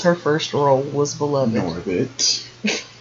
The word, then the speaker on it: Norbit: Girl from Norbert. No, girl from Norbit. Of Norbert. Now you have me saying it wrong. She's from Norbit.